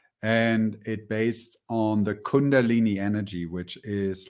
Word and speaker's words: Kundalini: How you pronounce it? Kundalini? Kundalini.